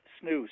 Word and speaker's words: SNHU: new hampshire university and i've heard michael pronounce it as snooze so be prepared for that